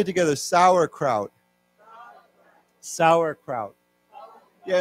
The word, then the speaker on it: Sauerkraut: Sauerkraut. Sauerkraut. Sauerkraut. Sauerkraut. Yeah. And the the pronunciation of this is the same. Sour. It's the same.